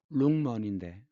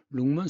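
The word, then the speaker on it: 龙门: 이것은 용문입니다. 용문산 많이 들어봤죠? 룽먼인데 룽먼 석굴이에요.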